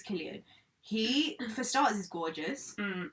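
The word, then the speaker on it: Cillian: how you pronounce him is it sillian no I thought it was kilan no I think it's Killian yeah I think it's Killian he for stars is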